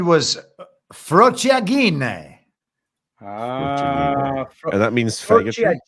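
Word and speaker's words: frociaggine: The word he said was frociagine. And that means faggotry? Frociagine. G-I-N-E? G-G-I-N-E, yeah. Oh, is it a hard G? We've already had the hard R. The two G's would be the hard G.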